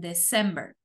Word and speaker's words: December: y qué pasa con septiembre octubre noviembre y diciembre van a acentuadas en la segunda sílaba decimos september october November and december Okay entonces septiembre octubre